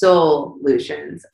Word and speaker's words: Soulutions: It's kind of like fun when people realize, because like it's soul solutions. Like these are solutions for your soul, because it's not just about health and wellness.